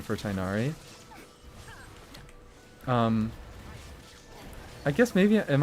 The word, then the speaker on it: Tinari: Anyways, the joke about Tinari for anybody who doesn't know is his name is pronounced Tiknadi. I don't say it like